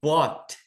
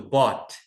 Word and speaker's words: bought: Então, passado de buy é bought com T mudo, bought.